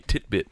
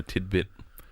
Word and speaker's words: titbit: um it's actually a it's actually a titbit not a tidbit is it yes is